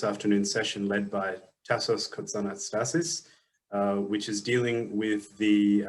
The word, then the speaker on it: Kotzanastassis: My name is Tassos Kotzanastassis, as Martin very correctly pronounced.